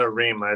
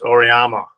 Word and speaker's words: Auriemma: Not Arima, it's Auriemma.